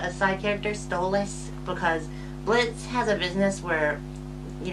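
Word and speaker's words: Blitzø: Number 4 is Blitz, the O is silent, from Hell of a Boss.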